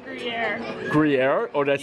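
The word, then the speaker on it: Gruyère: Hey, you just pronounced Gruyere.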